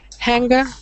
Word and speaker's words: hanger: So, uh, actually the first word is interesting for pronunciation because it's not the same as finger. Uh, the ng make one sound. So, how do you read those three words? Hanger all top.